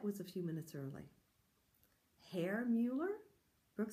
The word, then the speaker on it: Herr: Herr Mueller? Brooke said. What kind of a goofy name is Herr? Mrs. Mason laughed. It sounds like hair, but it's spelled H-E-R-R. It means Mr. in German.